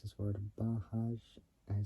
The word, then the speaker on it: Bajaj: can't pronounced this word bahaj I spelled b a j a j so it's like saying Baja but J at the end so the Duke 200